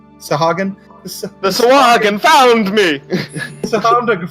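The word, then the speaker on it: Sahuagin: How do you pronounce the shark people's name again, Will? Sahagin. Sahagin?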